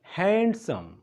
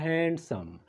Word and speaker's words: handsome: سپیلنګ موږ ته وایي چې ته ووایه handsome، خو دا د غلط تلفظ دی. دا ویل کېږي handsome. ډي ورکې سالم ده، ډي ورکې نه ویل کېږي، ته به څه وایې handsome.